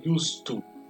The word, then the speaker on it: used to: Esse to influencia na pronúncia. Então eu vou ter a pronúncia used to.